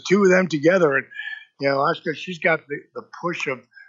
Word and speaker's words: Asuka: Asuka, yes.